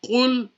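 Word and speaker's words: قُل: Now if someone says Kul Huwallahu Ahad instead of Qul Huwallahu Ahad, then because of not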